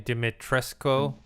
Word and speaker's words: Dimitrescu: And then I guess people are talking about obviously Lady, how do you pronounce her name? Dimitrescu.